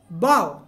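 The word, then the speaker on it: bow: বাও, বাও মানে ঝুঁকে প্রণাম করা। বাও, উচ্চারণটা কি আপনার? বাও, বয় আকার চন্দ্রবিন্দু, বাও, ঝুঁকে প্রণাম করা।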